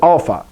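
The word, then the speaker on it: ἄλφα: like an a good alpha alpha so it's the same sound this is kind of tricky but if you said this letter if you know this letter say that one beta listen to how you said that beta ah there's your sound so these letters you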